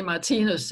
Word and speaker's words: Martinus: I'm saying it correctly Martin ooze well actually in Danish we say mightiness Oh maestro Matthias is